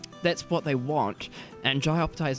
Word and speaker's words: Jai Opetaia: Okay, so he's not fighting on Jai Opetaia. Well, that's the thing. Pronounced that wrong. Jai Opetaia.